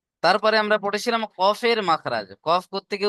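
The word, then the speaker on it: ك: চলেন, এখন আমরা দেখব কফের মাখরাজ। কফ কোত্থেকে উচ্চারণ হয়? কফ কোত্থেকে উচ্চারণ হয় দেখেন, জিভের গোড়া।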